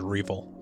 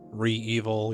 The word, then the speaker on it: REvil: The last ransomware gang I want to talk about is known as Revil. That's R-E-V-I-L. Revil, Re-Evil, you'll have a lot of different people pronouncing it slightly differently, but they're also known as Sodi no Kibi.